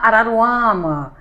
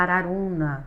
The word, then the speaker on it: Araruna: Porque geralmente quando fala assim: "Ah, Arruda, Araruama", entendeu? Tem que falar Araruna. Araruna.